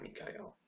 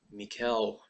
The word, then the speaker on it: Mikhail: to a two-year extension mikhail no not mikael mikhail botticker excuse my pronunciation there i